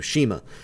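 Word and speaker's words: CIMA: Is it Sema or Shima? Shima. Thank you, Shima.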